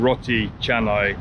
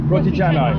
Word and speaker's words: roti canai: There's a couple of you that say to me I'm pronouncing roti canai wrong, and you're saying it should be pronounced roti. How do you call this one? Roti canai.